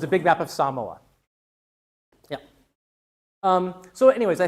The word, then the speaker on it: Samoa: Um or or Samoa is how English speakers pronounce it, but it's pronounced Samoa.